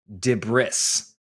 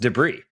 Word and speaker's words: debris: I I always say dris. Like if there's a bunch of stuff everywhere, I say, "Oh, there's a bunch of dris everywhere." I know how it's pronounced. It's pronounced debris.